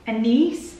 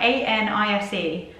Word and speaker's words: anise: Anise? How do you pronounce that? A-N-I-S-E.